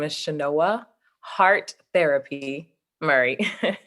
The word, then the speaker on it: hARTherapy: my name is shinoa heart therapy Murray oh I was wondering because I would have pronounced it a theapy but I wasn't sure oh Artis no it's heart therapy yes heart therapy wow how come though